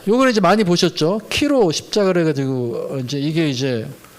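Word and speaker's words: Chi-Rho: 거기에 쓰여 있다든지 설교단 앞에 강대상이 그렇게 쓰여 있다든지 본 건데 이게 이제 요 X라는 게 헬라어로 키라고 읽고요. P가 이제 헬라어로 로라고 읽어서 키로 십자가인데 콘스탄티누스 황제가 꿈에서 이걸 봤다 그러잖아요.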